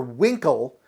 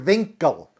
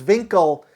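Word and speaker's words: Winkel: another scene with Dr Winkle he calls him Dr winkl but his he says my name's Dr vinkle because vinkle is the German pronunciation in Germany the W is pronounced as a v so Dr Winkle becomes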